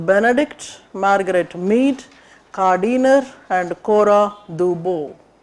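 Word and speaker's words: Cora Du Bois: She has to be called Bo, Cora Dubois. D is a small letter there. Pronunciation is important. For Indians, we make use of every letter that comes in front of our eyes. Don't call her Dubois. Cora Dubois.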